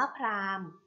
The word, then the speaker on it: พราหมณ์: ค่ะ คำ ว่า พราง Prime อ่าน ว่า พราหมณ์ พราหมณ์ ประกอบ ไป ด้วย พอ พาน